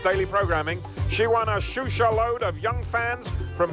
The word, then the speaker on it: Xuxa: A name that's pronounced Xuxa, even with its unlikely spelling, X-U-X-A, may become very familiar very soon.